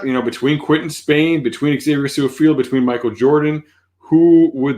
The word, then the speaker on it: Su'a-Filo: I talked about what Xavier Su'a-Filo did when he came in. That's how he pronounces his name.